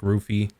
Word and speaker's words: Luffy: Which can, like in Luffy's case, it would be Luffy, right? And like, but when it's pronounced, it sounds like Rufy.